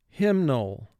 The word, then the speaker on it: hymnal: begin with row one hymnal hymnal the congregation took out their hymnal books and began to sing hymnal two syllables the first syllable is him three sounds three